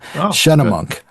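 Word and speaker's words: Schunemunk: So Shunnamunk. That's kind of what I was going to say at first. Shunnamunk.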